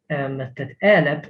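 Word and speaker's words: għeleb: Note that elep is pronounced with the p at the end because the b is at the end of the word.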